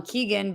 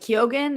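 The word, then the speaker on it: Keoghan: the joker with barry who i've been calling keegan but it's spelled like kyogen and a lot of people are calling him kyogen but i've heard it both ways whatever i think he's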